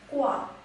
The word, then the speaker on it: 挂: pronounced as gua, gua.